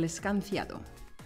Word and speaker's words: escanciado: When sidra is served in Asturias, it's poured in a particular way, el escanciado. Escanciado. Escanciado. The CI in most of Spain is pronounced like a th.